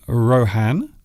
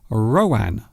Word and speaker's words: Rohan: Well, I suppose you could say Rohan, or some people might say Rowan. So it depends really. It depends on what that person's pronunciation is.